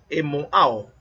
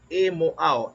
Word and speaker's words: EMOAO: Y dentro de esa mentoría, el mentor nos está usando un acróstico que se formó entre ellos muy bueno, que se pronuncia EMOAO, EMOAO, E-M-O-A, E-M-O-A-O, EMOAO.